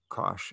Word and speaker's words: cosh: or we use say kosh so this is hyperbolic cosine but it looks like kosh and we pronounce it kosh as if it were a sh sound and its graph is